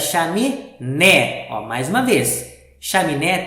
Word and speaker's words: chaminé: né mais uma vez chaminé tem três sílabas chá me né então o assento de apareceu para lembrar para gente que eu vou ler a última sílaba né um pouco mais forte então chame né então